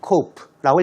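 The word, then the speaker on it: coup: 여긴 너 쿱이 아니에요. cope라고 읽습니다.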